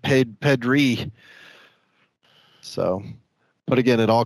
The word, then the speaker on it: Pedri: It's actually pronounced Pedri.